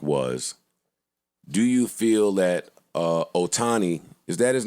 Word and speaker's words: Ohtani: And they didn't ask him, but the question on First Take was, do you feel that Ohtani, is that his name? I believe so. Do you feel That's how you pronounce it.